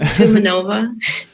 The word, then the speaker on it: Tumanova: I know my last name looks long in Russian, but it's actually not. It's easy to pronounce. Tumanova.